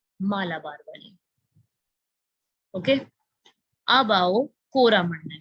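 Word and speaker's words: Coromandel: So they have change the pronunciation to कोरामंडल, and that's how अब हम इसको कोरामंडल ही बोलते हैं, ठीक है। तो ये यहाँ से एक वर्ड निकल के आ गया, कोरामंडल इज बेसिकली चोला मंडल का डच में प्रोनाउंसिएशन, इसका चेंज कर दिया उन्होंने, अपने हिसाब से कर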